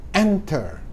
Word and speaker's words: enter: Nah, jadi pada kata enter, kalau kita baca itu bukan enter, bukan, tapi enter. Nah, suku kata pertama yang ditekan, maka ini nggak didobel, teman-teman, ya.